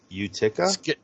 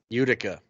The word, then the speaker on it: Utica: is that New York uh I can't even pronounce it Utica Utica Utica there you go words use the comments I